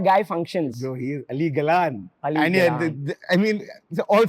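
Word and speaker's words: Ali Galán: pronounce his name Ali Galan or Ali Galan Ali Galan okay that's how you pronounce it bro that guy came out and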